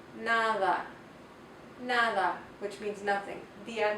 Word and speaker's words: nada: The letter de also makes a soft sound. It's more like a TH sound. The soft D sound is more like a TH, as in the word nada.